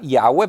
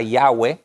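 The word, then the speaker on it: Yahweh: y ya ve escoba y agua pero jehová no es el nombre de dios sino es y h w la pronunciación probablemente era y agua y agua ya has escuchado ese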